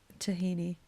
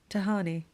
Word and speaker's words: Tahani: She plays Tahini. No? Tahani. Tahini's a paste.